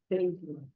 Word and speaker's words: Deydlla: E só para eu não pronunciar errado, como pronunciei o seu nome? Deidla.